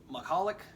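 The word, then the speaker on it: Michalek: For those of you who are unaware, Connor, is it Mahalik?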